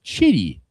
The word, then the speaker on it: Chitty: and bullpen coach Don Chitty. You You said it right. I would have said shitty, but hey, I'm trying to keep this correct.